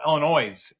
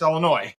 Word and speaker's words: Illinois: And if you're not from Illinois, it's called Illinois. It's like, no, it's not Illinois. It's just Illinois. That's the silence.